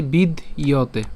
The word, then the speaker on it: বিদ্যতে: নাসত, হ্যাঁ নাসত, এরপর বিদ্যতে, এই জায়গাতে আমরা উচ্চারণ করতে পারি বিদ ইয়তে, ঠিক আছে, বিদ এই দ পর্যন্ত করে এরপর হচ্ছে ইয়তে, ঠিক আছে, বিদ ইয়তে।